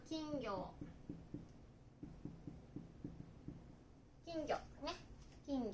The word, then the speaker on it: 金魚: Cá vàng được viết là "金魚" và đọc là "kingyo."